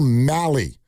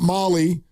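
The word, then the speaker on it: Mahle: So the starting pitcher on Saturday is Tyler Mali. It rhymes with rally. Not Molly, not me.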